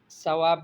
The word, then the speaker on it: ثواب: و ثواب ملے، تو ثواب نہیں ہے بھائی، وہ تو ثواب ہے۔ ھذا خطأ فی التلفظ، یہ تلفظ میں غلطی ہے۔ فقولی، آپ کہے والثواب، لتنالی الاجر والثواب، بالثاء لا بالسین، سا سے ہے، سین سے نہیں ہے۔ اچھا، ایک طالبہ دوسری